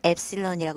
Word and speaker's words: 엡실론: 약간 3을 거꾸로 쓴 것 같기도 한 이 기호는 엡실론이라고 읽습니다.